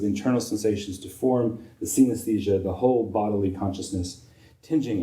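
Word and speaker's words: coenesthesia: from 1925, Richards coined a term which looks like it ought to be pronounced synesthesia, but it doesn't look like synesthesia. It's spelled C-O-E-N-E-S. And so it's in fact pronounced synesthesia as opposed to synesthesia.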